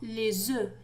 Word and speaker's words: œufs: إذا لاحظوا هنا les œufs لم ننطق F. إذا عندما نقول بيضة واحدة نقول un œuf un œuf. لكن les œufs لا ننطق F.